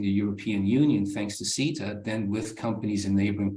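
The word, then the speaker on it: CETA: general I might also at this point mention Sita which not a lot of people are familiar with it's spelled c-e-t-a if you choose to Google it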